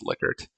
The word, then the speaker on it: Likert: Likert scale data, or technically I think it's pronounced Likert.